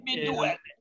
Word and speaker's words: Mi Duole: cycling, and therefore we do our best to pronounce it right. So sure. Mi Duole. Mi Duole.